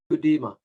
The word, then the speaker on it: Gudema: Gudema, am I pronouncing that correctly? Gudema.